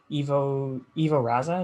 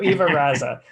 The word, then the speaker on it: Ivo Raza: Ivo Raza is how you say it? That's right. All right, I'm getting it. So Ivo Raza, thank you so much for chatting with me